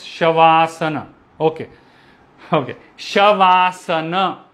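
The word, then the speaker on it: शवासन: is like asana so it is made of two words shava and asana shavasana once again tell me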